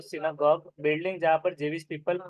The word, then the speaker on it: synagogue: Synagogue. सिनागॉग पढ़ेंगे उसको। सिनागॉग building जहाँ पर जेविश पीपल प्रे के लिए जाते हैं।